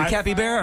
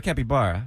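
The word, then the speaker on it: capybara: in Australia bush baby is it cppy bar or capy bar I thought it was Kappy bar how do you even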